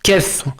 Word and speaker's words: chief: plus classique de caput, qui donnera en ancien français chief, mais qui se prononce encore en ancien français précoce, c'est-à-dire la langue dont je parle, l'état de langue dont je parle à l'heure actuelle, qui se prononce encore kef.